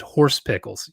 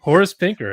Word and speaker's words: Horace Pinker: horse horus pinker but couldn't say his name correctly and called him horse pickles you almost did it again as you were saying i almost said yeah dude horace pinker it's just horses you